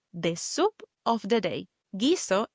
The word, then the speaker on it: guiso: Gizo is written G U I S O. And we know with the G or G. We don't pronounce the U. It's like it was written G I S O. We go straight to pronouncing the I.